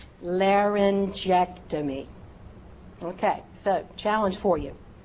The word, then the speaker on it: laryngectomy: If that word begins with the letter G and is followed by the vowels E, I, or Y. E, I, Y. Use that J sound. Use that soft G sound.